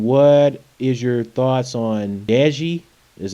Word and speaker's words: Deji: the house and what is your thoughts on Deji is how you pronounce it aka comedyshortsgamer by the way please